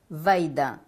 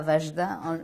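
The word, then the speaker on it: Vajda: autre maître George vaidin H vaidin pas vagedin les gens prononc vagedin mais c'est George vaidin lui je l'ai rencontré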